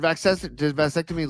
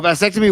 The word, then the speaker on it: vasectomy: So I like the way you pronounce vasectomy instead of vasectomy. You say vasectomy. I dig that. You got to emphasize the va because all right.